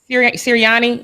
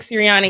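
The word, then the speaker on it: Sirianni: siri how do you say his last name siriani nick ciriani he took it he was terrible y'all he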